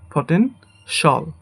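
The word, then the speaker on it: potential: এটাকে আমরা বলি ফটেনশিয়াল। বাট এটা হবে ফটেনশল।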